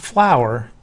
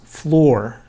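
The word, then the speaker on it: fluorine: to remember with Florine it's not flour F lur it's floor f l r that's a common M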